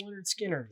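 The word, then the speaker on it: Lynyrd Skynyrd: love it and the music's great too um pronounced leonard skinner another double 45 you could go with this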